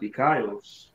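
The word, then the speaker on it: δίκαιος: That word righteous in the Greek is dikaios. It be pronounced dikaios.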